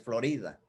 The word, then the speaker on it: Florida: buena cáliz en florida pero la pronunciación correcta en español es florida la florida también hawai también